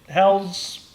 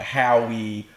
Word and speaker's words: Howe: Which and I do think it's clever because last name is spelled Howe. Correct. So it's and people try to call it Howie or anything else but How.